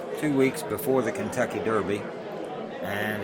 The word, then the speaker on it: Derby: about however since uh johnny warner mispronounced the derby and said darby as he frequently does